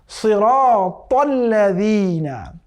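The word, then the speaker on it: صراط الذين: পড়তে হবে সিরাতাল্লাযীনা, কেমন? সিরাতাল্লাযীনা, সিরাতাল্লাযীনা। আবার এই জাল কিন্তু খুবই নরম, সিরাতাল্লাযীনা, সিরাতাল্লাযীনাও পড়া যাবে না, সিরাতাল্লাযীনাও পড়া যাবে না, তাহলে কিন্তু ভুল হবে।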